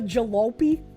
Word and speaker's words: jalopy: It's pronounced with a soft O, not a hard O.